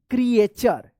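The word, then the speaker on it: creature: टी यू आर ई क्रिएचर तो ध्यान रखिएगा जब भी टी के बाद यू आर ई रहता है लास्ट में तो टी यू का च उच्चारण होता है क्र क्रिएचर ऑन अर्थ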